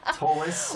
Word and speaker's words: Ptolus: The P is silent. Ptolus, yeah. I've been saying that wrong for 20 years, Monty. Nice job. Ptolus.